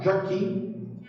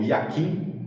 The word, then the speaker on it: Jachin: E agora, para finalizar, Jaquim, também hebraico, ou Yaquim, também tem várias formas de escrita, inclusive, e pronúncia, que significa ele estabelecerá, e carrega um simbolismo de estabilidade e firmeza.